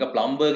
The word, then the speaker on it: plumber: ඒක plumber කියන්නේ නැහැ. PLUM B අකුරක් තිබ්බට plumber කියන්නේ නැහැ. pronounce කරන්නේ plumber කියලා. එහෙනම් උත්තරේ මොකක්ද දෙන්නේ?